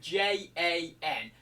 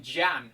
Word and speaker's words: Jan: And his name was Jan, right, with J-A-N. And I used to always call him Jan for probably 3 years, right? And then it came out that his name is actually pronounced Jan, like Y-A-N.